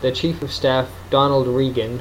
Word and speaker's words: Regan: And they determined that the Chief of Staff, Donald Regan, which is spelled like Reagan but without an A, or without a first A, and National Security Advisor Admiral John Poindexter were to blame for what had happened.